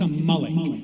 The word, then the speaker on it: Amalek: First of all, I'm going to give you all a Hebrew lesson. It's not amal. It's a malik.